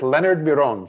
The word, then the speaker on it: Leonard Miron: we are here with leonard miron from did i say it right was perfect was the way how you pronounce my name in romanian romania being my native